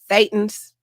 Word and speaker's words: Thetans: Or a bunch of thetans that we throw, that all burn, a bunch of humans all Thetans. It's pronounced Thetans.